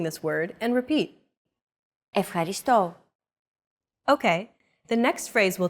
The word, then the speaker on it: Ευχαριστώ: It's the accent mark, and it indicates that this syllable is stressed. A stressed syllable is pronounced slightly longer and at a higher pitch than the rest of the syllables in a word.